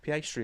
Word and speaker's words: Piastri: And thank you, Puff Piastri, as well. Piastri. I've never pronounced it like that, but because there's no reason why I pronounce it like that, actually.